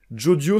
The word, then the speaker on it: Jodio: ça m'a instantanément convaincu jodio se prononce de la même manière que Jojo en japonais Jojo avec un petit